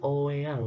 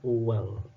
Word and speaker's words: oeang: Kemudian di ejaan lama misalnya di sini tertulisnya OEANG, dibacanya apa? Nah, kalau zaman sekarang dibacanya kan oweang ya. Kalau zaman dulu ini dibacanya adalah uang.